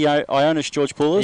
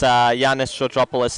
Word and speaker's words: Georgopoulos: Might be Ionis Georgopoulos. Yeah, it's Yanis Georgopoulos, and I do stand corrected on the pronunciation of Michael's last name.